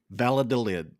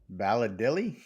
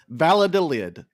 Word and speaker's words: Valladolid: 4 European soccer names and you attempt to pronounce them and or spell them. I'm down. Let's do it. Valladolid. Valladilly? What? Say that again, Chuck. Valladolid.